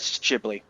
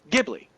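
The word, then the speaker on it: Ghibli: respect it as they grew up in America with it get jibli and for those who have lived their entire life either in Japan or about Japan or what have you or only see anything from Studio whichever as only from miazaki and Japan therefore whatever he says goes then it is gibli and then however way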